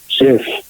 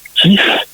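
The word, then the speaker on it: Kyiv: faut pas oublier que l'orthographe russe fait prononcer le V Kief et carkov et donc en ukrainien c'est bien le vif kif et carkif tu vois c'est un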